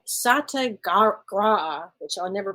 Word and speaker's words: Satyagraha: Well, and that philosophy is called Satyagraha, which I'll never pronounce correctly, but essentially it emphasizes peaceful. Satyagraha.